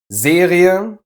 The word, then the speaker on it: Serie: and scheißen is to There are however a few instances where the A is pronounced separately from the E. In these cases, the letter combination EA makes this sound, ie. Basically e followed by a schwa. Serie, Studie, Familie, Folie, Arterie. But watch out, the following ones are just pronounced with the long e.